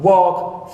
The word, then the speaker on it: walk: silent letters like come walk fasten so here in come and walk the L is silent so for them it's